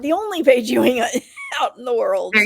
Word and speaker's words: Ewing: Ewing is Ewing. It's like Ewing. It's spelled funny, but I'm pretty easy to find it once you start looking for Paige Ewing.